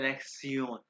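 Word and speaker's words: Lektion: भाई जो है ना शन, ये TION, इसको जर्मन में प्रोनाउंस करते हैं लेक्सियोन। मैं इमेजिन कर रहा हूँ कि आप लोगों को जर्मन का कुछ भी नहीं पता, जैसे मैंने स्टार्ट की थी मुझे कुछ भी नहीं मालूम था। इसको कहते हैं लेक्सियोन, इसको प्रोनाउंस करते हैं जर्मन में सियोन, लेक्सियोन।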